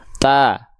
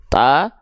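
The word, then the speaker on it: ت: disertai dengan senyuman ya Jadi bukan cuman buka mulut saja kalau cuman buka mulut saja pelafalannya seperti ini ta ta ta Nah jadi enggak sempurna kadar tipisnya maka kita analogikan muka mulutnya ta sambil senyum tipis-tipis ta ta ta a ba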